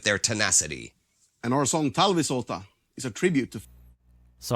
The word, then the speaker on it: Talvisota: And our song Talvisota is a tribute to... So I kind of said it right. Talvisota. That's the proper pronunciation.